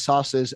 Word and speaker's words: Szasz: So by the way, I have it from Thomas Sauce's own mouth that the correct pronunciation is sauce. Sauce. So SZASZ in Hungarian is just like SAS, sauce. Okay.